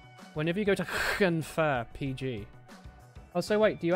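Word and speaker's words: Llanfair PG: Whenever you see the double "l," it's pronounced like a hiss. Try to think of it like an irate cat when pronouncing those words.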